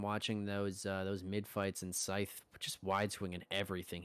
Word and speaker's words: Scythe: And look who it is, the man, the myth, the legend, Scythe. Wait, before actually anything else, how do you Yeah, pronounce your name? it's Scythe. It's Scythe.